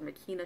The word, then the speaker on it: Makena: Some people call them McKenna shots or Makena shots, it depends on how you pronounce it.